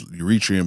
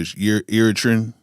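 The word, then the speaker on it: Eritrean: Um, I keep saying it wrong. I I want to say it's Uritrian, but Iritan, he's he's from there,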